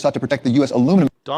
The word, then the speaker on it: aluminium: And I know you guys just call everything aluminium. I don't know why you guys like having that extra extra syllable in there, aluminium, but we just call it aluminum.